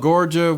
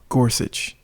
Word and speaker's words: Gorsuch: that new guy oh gorgia whatever whatever G I'll insert something here rker here for another Corrections his name is pronounced Neil Gorsuch we'll try to keep